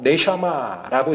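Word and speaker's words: נשמה: 하나님이 숨을 불어넣으신 그 영, 네샤마라고 읽히는 히브리어, 숨도 되고 뭐도 된다?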